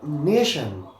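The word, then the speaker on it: nation: এই জায়গায় দেখো নেশন, এখানেও টি আছে, এখানে আমরা টি এর উচ্চারণ করছি আবার তালব্য স।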